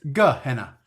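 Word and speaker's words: G'Henna: Gehenna, which is not Gehenna, it's spelt differently. There's an apostrophe, not just a G-E. Yeah, it's Gehenna.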